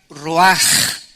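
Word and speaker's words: רוח: Esta palabra vientos es la palabra hebrea roach, que se pronuncia roaj. La CH en el hebreo se pronuncia como J, y que es la palabra espíritus.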